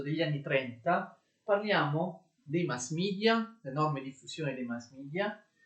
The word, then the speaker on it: mass media: I mass media, mass media in realtà si pronuncia mass media, è un'espressione inglese, non è un'espressione latina.